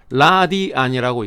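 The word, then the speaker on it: radian: 풀었으면은 RATIAN 라디안이라고 읽습니다.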